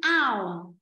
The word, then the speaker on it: hour: Bởi vì cái chữ này ấm hơ nó bị câm, nó không phát âm. Chúng ta đọc là un ao. Un ao. Nó không có ấm hơ này. Ấm hơ này bị câm đi.